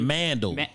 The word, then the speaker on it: Mandal: And then Mandal. Mandal. Mandal means man sandal.